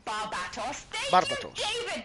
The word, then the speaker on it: Barbatos: David said Barbatos. Thank you, Barbatos. David. Correct pronunciation and everything.